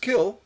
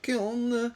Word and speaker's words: kiln: It's pronounced kill, not kiln with an N.